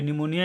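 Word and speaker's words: pneumonia: नाम है ठीक है तो देखिए इसमें तो आगे पी लिखा हुआ है तो इसको मैंने पी का कहां उच्चारण किया इसमें तो मैंने पी का कोई उच्चारण नहीं किया ठीक है तो पी जो होता है है इस वर्ड में साइलेंट होता है पी जो होता है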